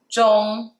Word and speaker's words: 中: 中 is the first tone. 中, which normally it means middle, but in this case, it's a simplified way to say Chinese.